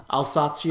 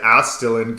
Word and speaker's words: Alsatian: Alsatian. I always said Astilin cousin. But I was putting a T where there wasn't one.